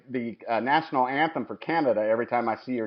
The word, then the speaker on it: Canada: is that when the Canada family were traveling across the Appalachian Mountains the joke is that at that time they kind of pronounced it Kennedy and it looks like